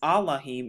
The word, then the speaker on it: Elohim: aart Hebrew names but another way to pronounce Elohim is allahim in the Hebrew Thou shalt not learn